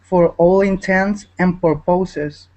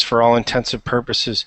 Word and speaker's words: for all intents and purposes: one here go ahead don't say for all intensive for poses to say for all intents and purposes Comon the younger generation is mispronouncing pronouncing this phrase so intensively that it has become popular both as a me mispronunciation and misspelling okay good so yeah so a lot of people have started to use this for all intensive purposes but it's for all intense and purposes okay whatever I intend